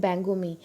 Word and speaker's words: Bihangami: of the Bihangama and Bihangami, Bangoma and Bangomi in Bengali pronunciation, or in the Bengali name, Bengali colloquial name.